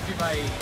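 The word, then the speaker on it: CreepIE Con: It was just creepy. It's like, yeah, you gotta say it right. CreepIE. Yes. In the Inland Empire.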